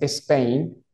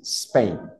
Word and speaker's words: Spain: No es Spain. Ojo, lo pronunciaste bien, Anthony, pero la idea es suavizar un poco más la S. Spain.